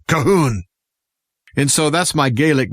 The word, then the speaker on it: Calhoun: shook their head and they said no not Calhoun kahoon and so that's my Gaelic name is Cahoon and it's even spelled much different you don't